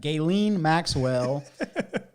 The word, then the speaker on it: Ghislaine Maxwell: said, I got to say her name right, Ghislaine Maxwell.